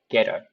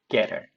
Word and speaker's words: get a: 자, get a 발음도 역시 마찬가지입니다. 강세가 있고 없는 모음 사이에 t가 들어가니까 getter. getter. 그 다음에 hold of you.